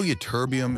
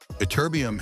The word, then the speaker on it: Ytterbium: Did you know ytterbium is worth more per ounce than gold, yet nobody can pronounce its name?